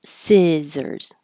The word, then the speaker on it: scissors: So the vowel is si, the I, not E, like Caesar's, scissors.